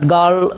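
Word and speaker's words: girl: উচ্চারণ করবো না রাইট তাহলে গার্ল আমরা অনেকে গার্ল বলি বাট গার্ল সঠিক উচ্চারণ কারণ এখানে আর টা হলো সাইলেন্ট লিটার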